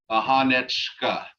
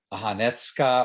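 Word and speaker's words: ahanecka: So, ahanechka. Oh, CK is cha sound, like. The C is a ch sound. Okay. But it's sometimes pronounced as a TS. So you'll hear people say Ahanetska or Ahanechka or Ahansha.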